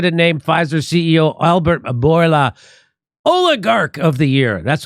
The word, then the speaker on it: Bourla: Bourla, is that how you say it? Mm-hmm. Albert Bourla as the CEO of the year.